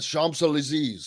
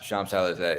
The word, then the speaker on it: Champs-Élysées: Champs-Élysées. There you go. Yeah, Champs-Élysées.